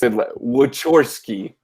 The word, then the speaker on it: Wachorski: Cow. Orski, cow, and chalk. Yeah. Sorry. This is really, it's Wachorski. Wachorski. I'm hearing which horse. It's spelled with it. Yeah, it's so, like okay. which, So but it's there's. I'm hearing. I'm hearing though which horse key, and I know there